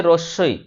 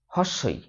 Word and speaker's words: রসই: আমি একটি ছেলেকে পড়াতাম সে রসই রসই কে বলতো হসই যত আমি বলি হস বলে কিছু হয় না তত সে বলে স্কুলের